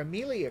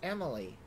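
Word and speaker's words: Amelie: I just realized I've been mispronouncing her name this whole time. I've been calling her Amelia Crow. It's Emily.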